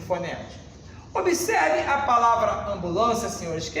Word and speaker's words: ambulância: O M e o N no interior de uma palavra, não sendo pronunciados, mas nasalizando a vogal anterior, eu vou contar com menos 2 fonemas.